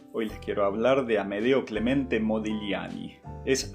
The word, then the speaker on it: Amedeo: Hoy les quiero hablar de Amedeo Clemente Modigliani. Es Amedeo con E, porque muchas veces lo había escrito con A o incluso lo pronuncian con A como Amadeo, pero no, es Amedeo con E.